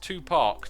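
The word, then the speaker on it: Tupac: there we go two pack is pronounced two parks do not pronounce the r f brilliant okay um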